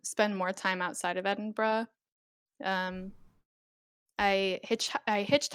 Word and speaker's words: Edinburgh: place to visit um apparently interesting place to pronounce as well yeah oh yeah okay so many people get it wrong it's it's edinburgh edinburgh that's that's how you say yeah um loads